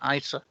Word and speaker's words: ICER: uh this launched uh do we call it ice or is that the per the coin yeah yeah that's perfect pronunciation isa right and uh your